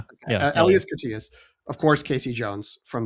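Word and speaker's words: Elias Koteas: But uh I think it's uh IAS Katias, not Elias. Yeah. Elas Katias, of course.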